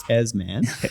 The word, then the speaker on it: Tasman: Right, you can't say Tasman, but you can say topography. It's actually pronounced Tasman.